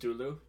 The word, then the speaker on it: Cthulhu: food did you know the proper way to say Cthulhu is Zulu it's just okay so